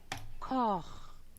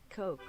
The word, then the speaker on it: Koch: Koch. The official German pronunciation, which I'm saying this is official because it's Google tries to do their best, is Koch. Koch. But in America, Coke. it's Coke.